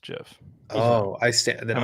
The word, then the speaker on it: GIF: The creator of it said that it's pronounced Jiff.